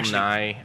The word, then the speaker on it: Nighy: says it's Nighy, he himself has come out and said, you're pronouncing my name wrong. It's pronounced Nye.